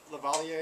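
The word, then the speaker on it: Le Verrier: point the telescopes there the Frenchman lavalier I think is how you pronounce his name was the first one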